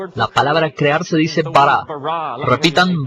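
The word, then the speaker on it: ברא: La palabra crear se dice bara. Repitan bara. Es una palabra contundente, llena de energía, de crear cosas. En un principio, Elohim bara los cielos y la tierra.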